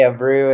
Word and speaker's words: Abreu: wrong there's you can there's two ways of saying it in Portugal they say a brew and at home we say aw but I go both